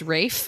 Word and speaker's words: Ralph: Or also we got corrected too that when we were talking about Wuthering Heights, we kept saying Ralph Fiennes, and apparently he prefers Rafe.